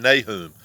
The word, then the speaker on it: Nahum: going to be in nahum or nahum however you want to pronounce the n-a-h-u-m and we're